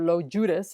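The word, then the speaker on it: Logiudice: blood between Andy and Neelu Judas or lo Judas I think it's pronounced but it's never really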